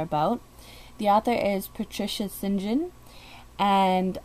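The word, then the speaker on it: St. John: is patricia sinjin and i know it says patricia saint john but there was a book that showed um that she had authored and it showed how to pronounce her last name and it said sinjin so that's what i'm going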